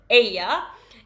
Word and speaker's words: ella: It is not Ella guys. Make sure that we pronounce it right. What is it? Aya.